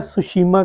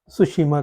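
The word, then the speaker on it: Tsushima: जाती है उसको नाम टी साइलेंट है सुसीमा करंट बोलते हैं तो यह दो हो गी इसमें से निकली क्रोसियो करंट या सुशिमा करंट तो ये गर्म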